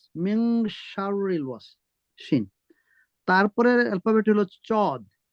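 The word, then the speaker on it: صاد: তারপরের অ্যালফাবেট হলো চদ। এই চদটা আর সিনটা একটু শার্প উচ্চারণ হবে।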